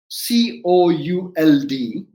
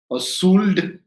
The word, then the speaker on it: could: so shouldn't the word c-o-u-l-d be pronounced as sud even i if you look at the l is silent right so s c